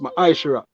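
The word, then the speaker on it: מעשר: in the hebrew and it's pronounced my aisha 10 of every penny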